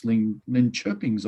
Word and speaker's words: Linköpings: away to 7th place Linköpings, I've heard is how you pronounce it.